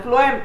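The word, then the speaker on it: phloem: तो फूड करता है, फ्लोएम एफ प्रोनाउंसिएशन में आता है, दो we spell it एज पी एच इट्स एफ, तो वो तो फूड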